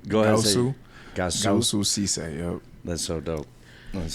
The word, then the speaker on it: Goussou Cisse: Goussou Cisse.